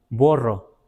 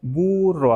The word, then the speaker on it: burro: de nosotros, dicen, no, no se dice borro, se dice burro.